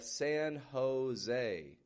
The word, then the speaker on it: San Jose: In Spanish, the J makes a H sound. And then the E on the end of the word is still getting this A. Not quite a Spanish A. It's actually more of an English sounding A, tense A sound.